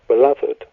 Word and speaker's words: Bladud: actually a Welsh name, and so it should be pronounced in a Welsh fashion. And when you do pronounce it, it actually becomes Bladud. So it's kind of a B apostrophe before the rest of the word.